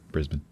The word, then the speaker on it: Brisbane: Brisbane. Brisbane. Remove all the vowels.